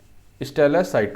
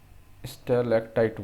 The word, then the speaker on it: stalactite: पहले ऊपर वाले को क्या बोलते हैं, स्टेलासाइट बोलते हैं, स्टेलसाइट्स बोलते हैं। स्पेलिंग कुछ गड़बड़ लग रहा है, स्टेलेक्टाइट बोलते हैं, सॉरी, स्टेलेक्टाइट क्या है यार, ये स्टेलेक्टाइट।